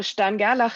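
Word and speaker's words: Stern–Gerlach: week we did the stan gala experiment so you see i pronounced it like german way which was an experiment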